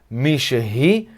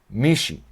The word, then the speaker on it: מישהי: E com Mishehi também, a pronúncia é Mishehi, mas quando a gente fala rápido, a gente fala Mishi. Mishi, tá?